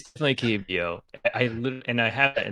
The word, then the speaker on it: Keebio: It's definitely Keebio.